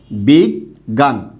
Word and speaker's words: বিজ্ঞান: শব্দের মাঝের বর্ণ আছে যেহেতু মাঝের বর্ণে আছে তাই এটার উচ্চারণটা কিন্তু আর গ্ঞ হবে না মাঝে বা শেষে থাকলে তার উচ্চারণটা কি হয় গ বিগ গান তখন শব্দের উচ্চারণটা সঠিক